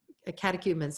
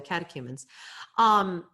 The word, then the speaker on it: catechumens: Moving on from there, these are the remnants of the catechumens. I'm sorry, that was not pronounced well. The catechumens.